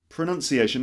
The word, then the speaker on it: pronunciation: Pronunciation, not pronunciation. That's a common mistake. It's actually pronounced pronunciation.